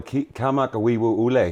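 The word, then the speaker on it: Kamakawiwoʻole: him, the guy called, I think it's Israel Kamenofsky. It's like a big Hawaiian dude that plays Somewhere Over the Rainbow. Israel Kamak Awiwo Ule.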